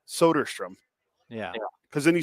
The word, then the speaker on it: Soderstrom: Russ well just like people used to call him Tyler solderstrom and it's soderstrom yeah because then you